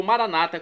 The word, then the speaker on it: maranata: E agora eu clamo maranatá, como dizemos nós católicos, ou maranata, como dizem nossos irmãos separados, os evangélicos ou protestantes. Não importa a pronúncia, o significado é o mesmo.